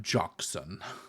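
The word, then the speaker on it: Jocsan: and that's how they'll say it too I'm jockson yeah my name is jokes all right Cleve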